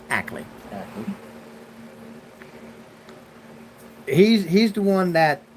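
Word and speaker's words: Akeley: uh talk to Ackley Ackley a-k-e-l-e-y but it's pronounced Ackley he's he's the one that goes there most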